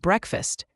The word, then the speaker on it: breakfast: Not cloth is and breakfast. Remember it's two syllables break fast but the a in fast is a short uh sound not a long ah.